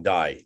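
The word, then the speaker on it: Dye: Guillaume Dai. Or you can pronounce die if you want, but French is D-Y-E.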